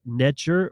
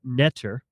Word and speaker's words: NTR: In the ancient Egyptian or Cometian cosmology and spirituality, the concept of NTR, pronounced Neter or Neter, holds significant importance.